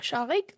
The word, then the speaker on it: Shaghik: you can follow me on Blue Sky at shik which is spelled as s h a g h i